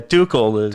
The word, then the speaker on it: Tuchel: I mean, I think Toxel, I guess his name is Toxels. The manager, he's got a lot of Yeah, Tuchel.